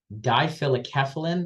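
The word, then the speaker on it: difelikefalin: that I can't even pronounce it but it's pronounced dilic keyin or keyin for the rest of this talk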